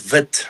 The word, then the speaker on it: wit: Well, in in Africans, you pronounce it vit like white.